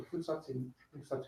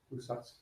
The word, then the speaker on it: Fusatsu: So Fusatsu ni, the last U is silent. Fusatsu ni.